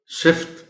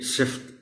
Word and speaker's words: صفت: ادا کر سکیں۔ صفت، بہت سے لوگ اس لفظ کو صفت بول جاتے ہیں، شاید روانی میں بولتے ہوئے انہیں یہ آسان بھی لگتا ہے۔ یہ صفت نہیں ہے، اسے صفت